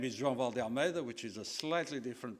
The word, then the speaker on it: João Vale de Almeida: My name is João Vale de Almeida which is a slightly different pronunciation.